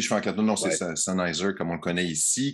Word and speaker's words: Sennheiser: Il semble qu'il faut prononcer Sennheiser. Ah oui, c'est juste Sennheiser. Écoute, j'écoutais les vidéos de l'entreprise, c'est Sennheiser. En allemand, il faudrait probablement dire Sennheiser. Sennheiser.